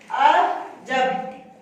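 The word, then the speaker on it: عجب: तो इसको इसके साथ मिला के पढ़ेंगे, आइन जबर आ, जीम जबर बे, जब, अजब, तो हम इसे पढ़ेंगे अजब।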